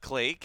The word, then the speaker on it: Clake: on Mirage, and we saw Clack, which apparently is pronounced Clake, I'm and not going with it.